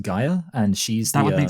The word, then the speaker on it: Gaia: yeah yeah and so I think it's actually pronounced Gaia and she's that would